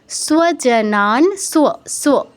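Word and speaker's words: স্বজনং: টুয়ে দীর্ঘ হবে দৃষ্টুয়েমান সজান স কিন্তু নয় ঠিক আছে স নয় দন্তস আছে যার উচ্চারণ স এটা হাফ আছে এর সাথে ওয়া যুক্ত হয়েছে সজান না নাতে দীর্ঘ হবে কৃষণ কৃষণ কৃষণ মূর্ধনসর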